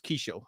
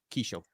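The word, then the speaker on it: Qhaysh: It was Kishel, and I have that written down somewhere. It's spelled with a Q. But yeah, Kishel.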